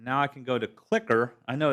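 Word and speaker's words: CliQr: it was CLI QR it's pronounced clicker as far as I know so before the cloud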